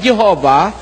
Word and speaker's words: Jehovah: while inclining to view the pronunciation Yahwe as the more correct way we have the form Jehovah because of people's familiarity with it since the 14th century niyo tagalugin natin bagaman